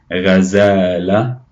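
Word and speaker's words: غزالة: The word here is gazelle or ghazala. Ghazala. Remember the ghayn has a gh sound. So ghazala.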